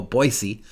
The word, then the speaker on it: Boise: is a suburb of Boise or as they say in Idaho Boise it's funny they pronounce it funny in their own state but I guess they know what they're doing because they live there so I am going